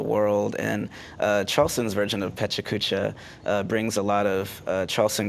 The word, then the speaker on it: Pecha Kucha: help me through that it's pecha kucha yeah pecha kucha yeah it's a japanese uh word and um actually this happens all around the world and charleston's version of pecha kucha brings a lot of